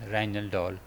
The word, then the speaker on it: Rijndael: In October 2000, National Institute of Standards and Technology NIST announced that the Rijndael block cipher pronounced as "Rhine doll" has been chosen as the replacement for DES.